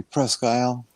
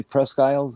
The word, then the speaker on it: Presque Isle: The normal pronunciation would be Presque Isle.